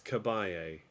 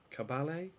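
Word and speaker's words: Caballé: Monserat Cabay. Cabay. Cabalet. Cabalet. C A B A L L E. But there's an accent over the E.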